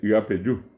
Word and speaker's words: Yapeyú: que es el famoso Yapeyú, que pronunciado correctamente es Yapeyú.